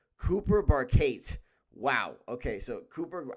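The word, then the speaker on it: Barkate: Not just one chain, but two because they got their wide receiver Cooper Barcade. I don't know how to pronounce his name.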